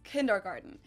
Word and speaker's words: Kindergarten: And that is kindergarten. In German, we pronounce it Kindergarten, and it literally means children's garden.